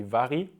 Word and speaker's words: Varg: as fact I think most people call him back but I think the somewhat correct Swedish pronunciation would be very which is the Swedish word for wolf and do you actually